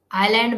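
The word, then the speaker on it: island: वो साइलेंट होता है आईलैंड में स लेटर जो है वो साइलेंट होता है नाइफ में क पाम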